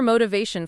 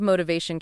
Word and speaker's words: motivation: Four syllables with the stress on the third syllable veto is similar to determination with that chick ending sound.